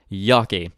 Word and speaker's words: Yockey: as is the case with many families they anglicized their last name upon their arrival morphing into a phonetic representation of its German pronunciation Yaki that final child's name